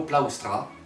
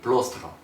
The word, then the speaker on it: plaustra: Un certain Menstridus Florus aurait repris Vespasien sur la prononciation du mot plaustra, qu'il prononçait plostra.